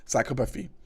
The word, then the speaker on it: psychopathy: Psychopathy.